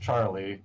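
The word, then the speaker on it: Tzarl: someone the other day named pronounced Charlie spelled t-z-a-r-l I know I do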